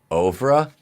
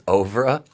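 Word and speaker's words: oeuvre: And the pronunciation even more so. Hang on. All right. It is Ovra. The word is Ovra.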